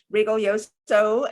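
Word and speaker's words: Rigoglioso: for you you today her name is margarit Regal yoso it's very important to pronounce her last name properly we have learned it often gets mispronounced so Regal yoso she is an expert in the feminine the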